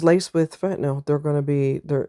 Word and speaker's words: fentanyl: You're going to hear a lot of people call it fentanol. They are all Every person that you hear saying that doesn't have a clue what they're talking about. That's not how it's pronounced. I have no idea why everybody's mispronouncing that word. It drives me absolutely insane. Um I've heard medical professionals call it the proper term fentanyl and I'm like I